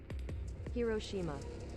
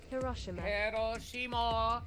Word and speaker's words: Hiroshima: boo boo mama mo hiroshima that's the american pronunciation hiroshima hiroshima is the british pronunciation we can hear that